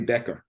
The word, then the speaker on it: Boetger: Boetger. So the O is silent. It's Boetger.